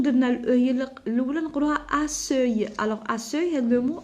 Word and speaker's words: accueil: Alors كون درنا الاو هي الاولى نقولوها accueil. Alors accueil هذا لو مو il n'existe plus. Alors pour prononcer la lettre C, K, alors il faut renverser les lettres.